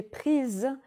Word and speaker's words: prises: les photos que j'ai prises pendant le mariage ici il faut prononcer prise parce qu'on a ajouté un e et un ace c'est la même chose